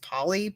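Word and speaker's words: Polley: know and I believe her last name is pronounced Paulie p-o-l-l-e-y um she's from The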